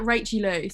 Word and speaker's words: Rachaayluu: I guess you would say Rachaayluu. just like Rachaayluu. So it's spelled like it should say like Rach but it's just like Rachaayluu.